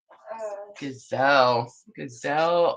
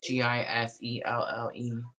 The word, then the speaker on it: Giselle: Gazelle Omelis. I probably said that wrong. I'm sorry. Giselle. Giselle. It's Giselle. Yeah, Giselle. On the TikTok. With a Z.